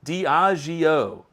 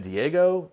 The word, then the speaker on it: Diageo: Diageo. Okay, I think that's right. Thank you, Zopher. See, you guys are way smarter than I am. At least I was close. I think I said Diego.